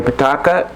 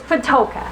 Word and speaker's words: Patoka: Did I pronounce that right or not? Kind of. I'm sorry. It's Patoka. Patoka, okay.